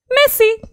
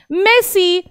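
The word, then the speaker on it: merci: जी हाँ, ये आपका जो प्लेयर है ना मेसी, उसी की तरह इसकी प्रोनाउंसिएशन होती है मेसी।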